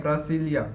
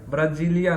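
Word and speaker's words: Brasília: ठीक है, ब्रासिलिया, ब्राजीलिया नहीं, जो यहाँ पर उच्चारण नहीं होता है, स्व उच्चारण होता है।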